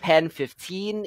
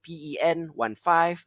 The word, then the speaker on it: PEN15: on cringe uh called pen 15 it is spelt like penis you know p e n 1 5 pen 15.